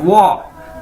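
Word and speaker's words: 我: तो अगर आप ये वाह आपने किस तरह से बोलना है, जिस तरह से आप बोलते हैं वाओ, आप कहते हैं ना वाओ, तो इसी तरह आपने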